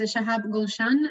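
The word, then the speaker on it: Shahab Golshan: is shahab gulshan and i hope i pronounced your name correctly and he will be presenting optical fibers uh sorry optical cyber probes for multiple systems oh he's in person okay sorry uh can you see my screen on my presentation uh yes okay so first of all you pronounce my name correctly thank you hello everyone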